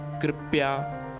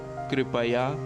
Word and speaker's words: कृपया: इसे अनजाने में कृपया ऐसा कह देते हैं, जबकि शुद्ध उच्चारण कृपया है।